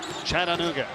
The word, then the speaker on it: Chattanooga: Four syllables. That's right. Chattanooga, home of Cracker Barrel.